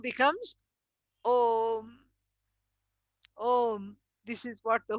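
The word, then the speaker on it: ओम्: So a plus u becomes om, om. This is what the whole thing is. And even though there is akara, ukara, and makara, it should not be pronounced as aum.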